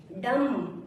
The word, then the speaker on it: dumb: डम, DUMB, डम। टी से पहले अगर बी आया तो साइलेंट होगा।